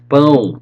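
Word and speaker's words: pão: more time so brad in portuguese you say boom how is bread okay boom fish you say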